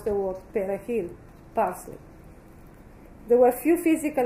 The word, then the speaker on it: perejil: It was deemed that Asian Creole native speakers found it difficult to pronounce the R in the Spanish word perejil. If the word came out as Asian, Pezil, or a bastardized Spanish version, the victim was condemned to die.